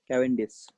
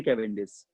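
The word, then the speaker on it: Cavendish: थे, उनका नाम था कैवेंडिश नाम था उनका, कैवेंडिश ही प्रोनाउंस किया था इसको, कैवेंडिश।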